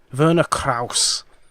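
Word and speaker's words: Werner Krauss: mean the actor was Verna Krause played that was quite good German pronunciation there Verna Kraus was a apparently a Nancy he played dr.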